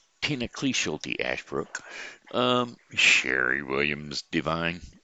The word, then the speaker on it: Devine: Webb, Martin Kelly, Jamie O'Driscoll, Tina Ashbrook, Tina Cleeschulte Ashbrook, Sherry Williams Divine, or actually that's not Divine, it is Divine, but it's spelled D-E, not D-I.